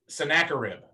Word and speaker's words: Sennacherib: Charlotte, can I have you to read this part where, and I'll give you the pronunciation thing that I gave everybody else. It's Hezekiah. Yes. Sennacherib.